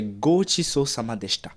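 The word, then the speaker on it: ごちそうさまでした: Gochiso kimadeshita. Pause. C'est pas ce qu'elle écrit, c'est Gochiso Samadeshita.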